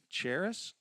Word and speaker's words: Charis: Charis? It's with a ch, not a sh.